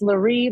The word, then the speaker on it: Lurie: It's Lurie, like Marie with an L.